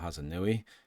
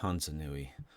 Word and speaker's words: Hasongo: She added a letter to Hasongo and said Hansanui.